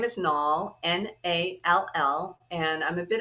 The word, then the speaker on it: Nall: My last name is Nall, Nall, and I'm a bit of a wordsmith and a punster.